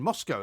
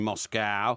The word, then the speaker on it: Moscow: Well, it wasn't there when I was last in Moscow. Well, it looks like an old call bar. it Moscow, don't they? Moscow, yeah. Moscow. They pronounce the C-O-W as cow.